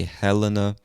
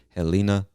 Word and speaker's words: Helena: treasure state montana is helena helena now some people say helena others might say helena it's really i guess a question of preference so you say what you want but i would say helena montana all right next